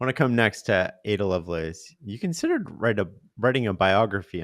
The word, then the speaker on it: Ada Lovelace: I want to come next to Ada Lovelace.